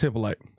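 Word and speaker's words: Hyppolite: No, it is Hippoly.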